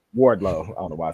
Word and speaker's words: Wardlow: like the fact that wadro um I say his name wrong way Wardlow I don't know why